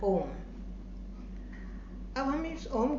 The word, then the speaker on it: ओम: उच्चारण ओम नहीं है, इसका उच्चारण ओम अर्थात अ, उ और म, इन तीनों का एक संयुक्त, 3 अक्षरों का संयुक्त शब्द जिसे कहते हैं ओम।